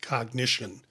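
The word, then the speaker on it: Cognixion: this is cognition and it's not spelled like We spell cognition, but I'm giving you the pronunciation. It's C O G N I X I O N and I'm pronouncing it cognition.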